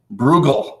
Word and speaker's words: Bruegel: Bruegel is that how you say his name Bruegel my wife says yeah he's he's going to